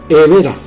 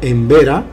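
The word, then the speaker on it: Emberá: Evera. También conocido como Embera, por una cuestión de comodidad de poner la M delante de la B para pronunciar en tiempos posteriores. Pero los propios aborígenes dicen Evera.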